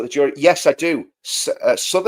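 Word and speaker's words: Southwark: Sod, I think that's how you pronounce it. Southwalk, it's it's written Suk.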